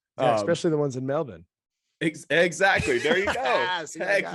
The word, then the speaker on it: Melbourne: But the top teams right now, you got the I'll say it in the Australian way, it's Melbourne. It's not Melbourne.